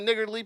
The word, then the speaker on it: niggardly: So he gave him a niggardly piece. And it's true. And that's exactly how you pronounce it, folks. I Now, think listen. you mean he Nigardly gave him a piece. It's not like Gardley. So there you go.